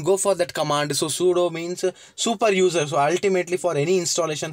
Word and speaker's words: sudo: i can say like sudo okay you usually pronounce it like sudo fine next install is nothing but installation whatever